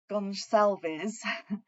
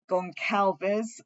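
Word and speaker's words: Gonçalves: well so Kaylee G gonalves I always pronounced that wrong um because at the beginning everyone called it gon Calis so um sometimes I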